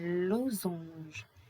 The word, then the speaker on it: losange: Ici, on a le S entre deux voyelles. The S is between two vowels, donc it is pronounced za. Un losange, un losange.